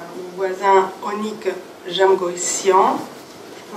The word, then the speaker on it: Onnik Jamgocyan: Je donnerai la parole d'abord à mon voisin Onik Jamgoissian. Je prononce bien ?